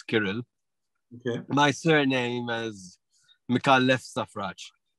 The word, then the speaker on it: Kirill: opinion well thank you so much could you pronounce and spell your name for us so my first name is kirill k-i-r-i-l it's a russian name don't ask ask